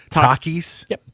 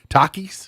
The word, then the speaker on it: Takis: the store but it doesn't appeal to me Takis t-a-k Takis Takis Takis yeah it's all I don't know it